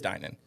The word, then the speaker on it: Dinan: It is Dinan. Who says it? Steve Dinan, the owner of Dinan in San Jose, California. Dinan or takeout?